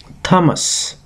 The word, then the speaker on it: tamas: that that way and the third Guna is Thomas so write down t a m a s and try to pronounce it that way so these are the